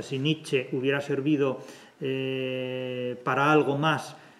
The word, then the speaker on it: Nietzsche: También es cierto que si Nietzsche, vamos a pronunciarlo a la alemana, no a la francesa, si Nietzsche hubiera servido para algo